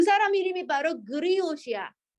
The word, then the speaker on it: griot: 어떤 이야기를 해주는 사람의 소리인데 그 사람 이름이 바로 그리옷이야. 그리엇. 발음만 하라고 그냥.